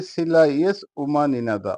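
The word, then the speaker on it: Сила есть — ума не надо: আবারো বলছি উচ্চারণ হবে সিলাইস উমান ইনাদা অর্থাৎ শক্তি থাকলে বুদ্ধির দরকার নেই আবারো বলছি উচ্চারণ হবে সিলাইস উমান ইনাদা এর অর্থ হবে শক্তি থাকলে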